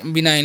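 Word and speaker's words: benign: तो आगे लिखा हु बिनाइन इस हम क्या पढ़ते हैं बिनाइन पढ़ते हैं ठीक है इसको आपको याद रखना है इसे क्या पढ़ते है बिनाइन पढ़ते हैं यहां पर जो जी साइलेंट होता है ठीक है तो बिनाइन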